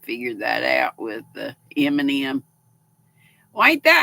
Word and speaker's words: Eminem: that out with the Eminem why ain't that how you say it that's what it looks like Eminem e-m-i-n-e-m Eminem said the same way as Eminem yeah Golden Girls oh